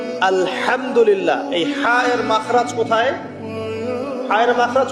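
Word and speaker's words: الحمد لله: আপনি পড়ছেন আলহামদুলিল্লাহ শব্দটা কি আলহামদুলিল্লাহ এই হা এর মাখরাজ কোথায় হায়ের মাখরাজ কোথায় বলেন একজন কংশনালীর মাঝখান থেকে এখান থেকে আপনি উচ্চারণ করছেন আলহামদুলিল্লাহি রাব্বিল আলামিন অর্থ দাড়াচ্ছে সমস্ত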